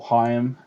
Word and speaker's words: Haim: those sort of people if you like sort of Haim or Higham as it's supposed to be pronounced or sort of even